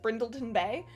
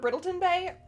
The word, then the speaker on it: Brindleton Bay: I can't pronounce it brindleton Bay I always called it Breton Bay and I realize now that I've just been ignoring a a small chunk of the actual word and it is brindleton